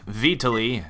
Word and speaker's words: Vitaliy: Poor Juicy cannot pronounce Vitaliy's name. That's how you say it. Vitaliy, if I'm not mistaken.